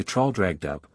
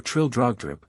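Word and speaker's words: Traldragdubh: It contained a warrant for conducting me and my retinue to Traldragdub, or Trildrogdrib, for it is pronounced both ways as near as I can remember, by a party of 10 horse.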